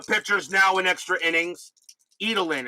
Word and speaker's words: Edelen: now in extra innings edelin is how martin's pronounce it edelin okay so joe edelen